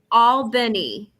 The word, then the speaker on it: Albany: going to be today faith we're down in albany correct that's the correct pronunciation yeah that's that yeah that's right uh